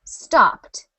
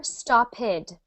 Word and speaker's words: stopped: really matter so much just make sure you don't say ID for example stopped is pronounced stopped never stopid so all you need